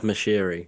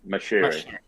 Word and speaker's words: Moshiri: that being, I hope I'm pronouncing this right, Marishi, or Moshiri. I don't know how to pronounce it either. Matt, do you know? Farhad Moshiri is his name. Moshiri.